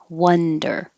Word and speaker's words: wonder: wonder and wander and this is an o that sounds like a u because it's wonder and this is an